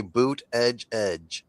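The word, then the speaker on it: Buttigieg: Buddha Judge. Buddha Judge. Buddha judge. on seeing uh on Fox edge edge. Just say boot edge edge.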